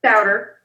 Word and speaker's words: Sowder: Sowder.